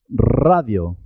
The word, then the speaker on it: radio: pronunciar tu tarro tarro cuando la r está al comienzo de la palabra se escribe simple se escribe una sola r pero suena doble suena doble por ejemplo radio rosa ratón